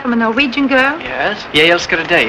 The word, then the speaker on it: Jeg elsker deg: Jeg elsker deg. It's the extra syllable that gives it the emotion.